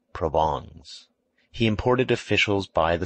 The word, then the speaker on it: Provence: his wife's relatives from provence pronounced provongs he imported officials by